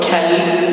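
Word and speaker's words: كلب: However, kalb with kaf, light letter, it means dark.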